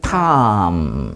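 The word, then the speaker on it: תם: 이것을 히브리어로 이렇게 말해요 요기 있는 것이에 트 발음이 나오고 요게 이제 모음 아입니다 그리고 이게 미음이 그래서 탐 그렇게 읽어요이 읽어 보세요 탐 탐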